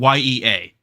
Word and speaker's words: yea: It's supposed to be yea, but it's still yay, but that's it's spelled ye ea.